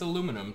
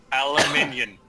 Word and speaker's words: aluminium: I'm American, so it's aluminum to me. I am Britannish. It's aluminium. Well, I'll break the tie and say it's a aluminium. I'm not pronouncing it like that. Don't worry, that's how it's correctly pronounced.